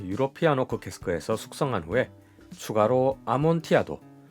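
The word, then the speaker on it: Amontillado: 캐스크에서 숙성한 후에 추가로 아몬티아도 미국식 발음으로는 아몬틸라도라고 하죠 이리 캐스크에서 피니쉬를 입혔습니다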